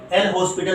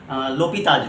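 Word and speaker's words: L'Hôpital: की, लेकिन फिर भी एल हॉस्पिटल रूल बोलते हैं इसको, और वैसे प्रोनाउंसिएशन करते हैं लोपिताज रूल, है ना, लोपिताज रूल।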